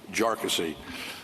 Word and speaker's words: Jarkesy: for these claims and by the way it's pronounced jassy uh not not a number of other ways that that it's been pronounced by by many um the the bottom